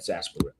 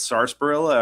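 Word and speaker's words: Sarsaparilla: It's like a nice cool just glass of sunset sasparilla. Sunset Sasparilla. Somebody was pronouncing it sars sparrilla. I was like, "Homie, that's not how you do that."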